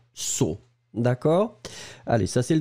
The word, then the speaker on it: saut: Vous allez les prononcer saut, mais bien sûr, vous allez les écrire différemment.